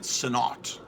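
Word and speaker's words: Sinnott: with Joe Senate art someone on YouTube was pronouncing it sonot I don't know to me it's Senate how am I supposed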